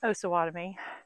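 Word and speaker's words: Osawatomie: asylum here in osawatomy and it's osawatomy not osawatomy I've been saying it wrong and I got corrected by two viewers I'm sorry I really do try to pronounce things properly so it's osawatomy so what is something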